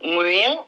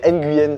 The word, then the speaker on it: Nguyen: Nguyen. On ne prononce pas le N. C'est comme Hélène, on ne prononce pas le H. On ne dit pas H Hélène.